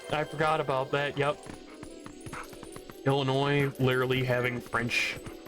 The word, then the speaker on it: Illinois: Like when you look at the when you look at the state of Illinois and you look at that name with the two L's and ending with a silent S, you're like, "Oh yeah, no, that used to be French."